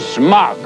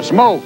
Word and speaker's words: Smock: Gordon Smock of Chicago. No, Smoke. It's pronounced Smoke. Looks like Smock to me.